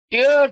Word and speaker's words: tear: Horn বলা হচ্ছে এটা একটা জার্মানিক ওয়ার্ড থেকে ইংরেজিতে এসছে, টিয়ার। টিয়ার দুটো কথা, একটা TEAR, টিয়ার, একটা হচ্ছে টিয়ার বলা হয়, একটা টেয়ার বলা হয়।